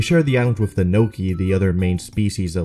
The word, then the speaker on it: Noki: anything in Italian, but it's pronounced the same as gnocchi, the delicious and popular Italian dish, which means they do probably taste good.